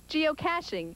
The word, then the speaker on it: geocaching: This funny-looking word is actually pronounced geocaching, and it's something you've probably never heard of.